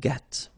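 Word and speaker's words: gris: the same Noir Okay g don't pronounce the s but then for the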